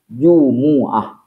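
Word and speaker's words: جمعة: syaz itu artinya cacat karena yang masyhur yang benar itu adalah jumuahah jadi menggunakan Jumuah yang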